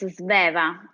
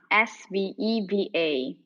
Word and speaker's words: Sveva: Could you please pronounce your name correctly for me? Yes, my name is Sveva, Sveva.